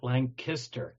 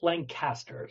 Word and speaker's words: Lancaster: it's uh you know us locals call it lanister K I see I see the rest the rest of the world calls it Lancaster so aha well now